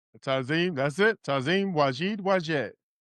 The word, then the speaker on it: Tazim: Did I pronounce it correctly? Thanks so much for joining us. Tazim, that's it.